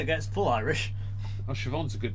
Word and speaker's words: Siobhan: How do you spell it? Well, Shivon.